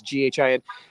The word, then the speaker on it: GHIN: It's GHIN. It's pronounced GHIN.